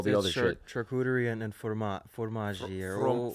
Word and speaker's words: fromage: Charcuterie and fromage. Fromage is how you say it. I don't have the accent, but yes.